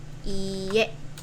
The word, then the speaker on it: iie: pronounce it as iie, if you pronounce it too short, you will pronounce it as iie, which has a meaning. Yeah. So this means house. So just be careful with pronouncing iye and iye, iye, iye, iye. Okay? So the right pronunciation is iye and hai.